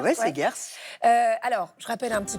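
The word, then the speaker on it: Seghers: C'est aux éditions Segers, je prononce bien Segers? Oui, Segers.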